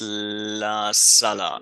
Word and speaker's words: La Sala: What's So my number two is just want to make sure I pronounce it correctly. It's La Sala.